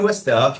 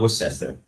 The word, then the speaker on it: Worcester: You lived in Worester. Okay. Yeah, that's how you pronounce it. Um, not Worcester.